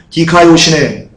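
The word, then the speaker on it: δικαιοσύνη: 여기서 의는요, 디카요시네 라고 발음하고요.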